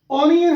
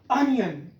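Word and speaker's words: onion: Next है ऑनियन, हम गलत पढ़ते हैं, तो इसकी करेक्ट प्रोनाउंसिएशन है अनियन, अनियन।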